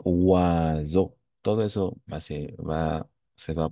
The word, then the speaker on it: oiseau: On va prononcer oiseau.